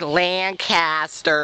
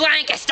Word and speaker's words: Lancaster: Yeah, a lot of people pronounce it wrong. Yeah, they're like Lancaster. Lancaster. Lancaster. We're going to Lancaster. It's Lancaster.